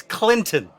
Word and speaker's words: Clinton: It's Clinton. Short I.